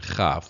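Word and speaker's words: כף: the the CAF and kaf the second form of the kaf letter without the doish which is CH as in Bak or KH if you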